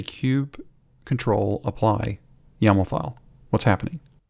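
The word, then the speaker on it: kubectl: line kubernetes manifest and we're applying it using Cube control as we learned that that's the correct way to pronounce it there you go but what's happening when we say Cube control apply yam file what's happening each of those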